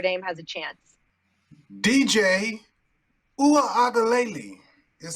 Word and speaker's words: Uiagalelei: DJ Uiagalelei is how you say it.